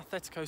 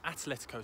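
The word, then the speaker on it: Atlético: been part of an athletico side sorry an atletico side as i've been corrected there's no h in the pronunciation an atleti side um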